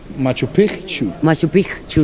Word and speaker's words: Machu Picchu: bonita en Machu Picchu Machu Picchu nos enseñaron a decirlo así se pronuncia sí los expertos allá